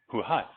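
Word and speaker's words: Huhai: How do you say his name? Hu Hai. It's actually one word, but whatever.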